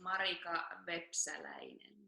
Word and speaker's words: Marika Vepsäläinen: Well, the official pronunciation is Marika Vepsäläinen, so that's the Finnish way of saying it.